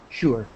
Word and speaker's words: sure: sure tap yeah that that word sure begins it's it's strange I'm sorry I apologize but it begins with an sh sound sure now do people understand